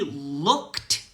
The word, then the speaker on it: looked: Agora, o passado a gente não pronuncia esse E aqui. Então vai ficar looked. Looked. Tá? Então, he looked to see. Claro que isso aqui é pronunciado como um T, tá? O ED inteiro é pronunciado como um T, de tatu.